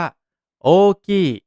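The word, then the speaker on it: 大きい: ครับ ส่วน คำ ว่า ใหญ่ เนี่ย ภาษา ญี่ปุ่น ออก เสียง ว่า โอกี้ โอกี้ ช้า ๆ ช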